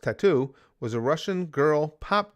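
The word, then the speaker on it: t.A.T.u.: Big Green says, that TATU is pronounced tattoo, was a Russian girl pop duo.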